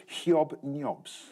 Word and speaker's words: Hobnobs: to stay away from hobnobs. Or as the BBC has asked us to pronounce it, hiob-nyobs. Hiob-nyobs.